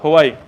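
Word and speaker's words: Hui: It's written H-U-I, but it's pronounced Huai.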